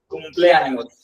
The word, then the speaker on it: cumpleaños: कॉम्प्लियानियोस, pronounce करना भूल गया था। कॉम्प्लियानियोस, cumpleaños, feliz कॉम्प्लियानियोस सीनियर सचिन।